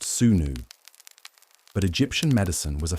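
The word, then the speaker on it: swnw: Well, you'd likely seek out a physician known as a Esau, pronounced sunnu.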